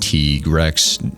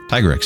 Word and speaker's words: Tigrex: Side note, I know it's pronounced Trex to sound like T-Rex or the Spanish word for tiger mixed with Rex, but also shut up. Tigrex is way cooler.